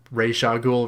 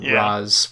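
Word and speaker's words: Ra's al Ghul: calls him racer cool so that implies ray shaw ghoul rather than raz which christopher nolan dropped the ball on thank god talia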